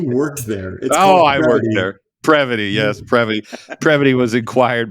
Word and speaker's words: Prevoty: Prevoty, yes, Prevoty.